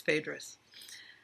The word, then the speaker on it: Phaedrus: Phaedrus it's for you I've been pronouncing theatres wrong John for Vicki when he pronounced it I realized okay it's Phaedrus the next corridor he